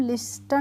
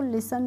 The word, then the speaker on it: listen: और इसको हम लिसन पढ़ते हैं, इसको हम लिस्टन नहीं पढ़ते हैं। तो लिसन का मतलब होता है सुनना होता है, ठीक है।